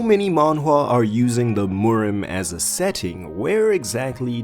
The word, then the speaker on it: Murim: is for anyone unfamiliar the word morm is the Korean pronunciation of the word wulin this trans translates to